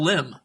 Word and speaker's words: limb: LIM is still limb, even though the B is silent.